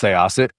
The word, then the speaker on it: Sayasith: last name, which is Sayasith. It's a mouthful, but it's pronounced Sayasith.